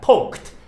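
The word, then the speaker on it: poked: 붙은 것은 요것도 과거형입니다 발음은 요것도 트 발음합니다 포크 그것이 헤드 머리 그러니까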